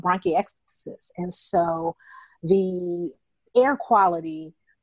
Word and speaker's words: bronchiectasis: When I looked at the word, how do you pronounce it? Bronchitis? It's called bronchiectasis.